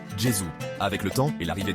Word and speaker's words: Gesù: la langue pratiquée, et on prononçait alors Jesus, qu'on prononce en italien aujourd'hui Gesù.